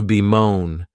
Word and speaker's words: bemoan: ver verb is to be moan and this verb has two syllables and the stress is on that second syllable you may also notice